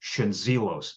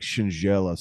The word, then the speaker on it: Schendzielos: Like if you say the Z, well, it's like the D and the Z if you say like a J. So Okay, like Shingelis, or it's Schendzielos. probably like Shingelis or something.